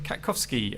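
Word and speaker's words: Katkowski: firstly for the appellant we have uh Mr kakovsky um please correct me if I've mispronounced that uh could you introduce yourself to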